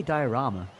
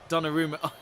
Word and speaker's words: Donnarumma: Why you say diorama? I don't know. How do you say? Donnarumma.